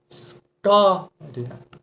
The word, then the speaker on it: escória: Escória. Sílaba mais forte aqui, ró.